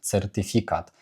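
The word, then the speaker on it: certyfikat: Тож це слово читається як сертифікат. Сертифікат з наголосом куди? Якщо а остання голосна і передостання з наголосом на і сертифі сертифікат сертифікат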